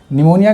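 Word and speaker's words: pneumonia: to neutral La निमोनिया निमोनिया का spelling बड़ा पूछा जाता है एसएससी वगैरह के एग्जाम में निमोनिया क्योंकि यहां पर पी साइलेंट रहता है और इसलिए लोग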